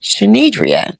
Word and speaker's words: Shandrea: My mother could not decide whether she was going to name me Shannon or Dedra. So, she combined them and made Shenria.